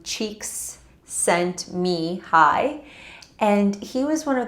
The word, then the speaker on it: Csikszentmihalyi: sent me high and we pronounce his name cheeks sent me hi and he was one